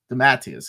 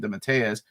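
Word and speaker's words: DeMatteis: name JM d mattius d mattius is the way I used to pronounce it and then I think Curtis corrected me and said it's JM DZ because he had interviewed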